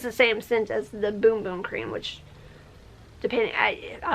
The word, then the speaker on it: Bum Bum: same scent as the boom boom cream which depending I I always thought it was the bum bum cream but apparently the bum part is pronounced boom so um yeah I